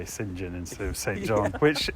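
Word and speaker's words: St John: vicar oh yeah and he's trying to pronounce sinjan oh yeah it went down in our family anyway something would repeat a lot people especially americans are just really upset about the idea that you say sinjin instead of saint john which you know on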